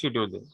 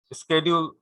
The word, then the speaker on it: schedule: আচ্ছা, যেমন ফার্স্ট টপিকটা হচ্ছে ক্যাপাসিটি শিডিউলিং। স্কেডিউল, অ্যাকচুয়ালি এটা আমরা শিডিউল বলি, এটা উচ্চারণটা হচ্ছে স্কেডিউল, স্কেজুলিং, ক্যাপাসিটি স্কেজুলিং।